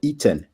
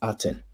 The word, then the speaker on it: Aten: determinative that's a sundisk so this spells you know eaten but in English we pronounce it aten so that that is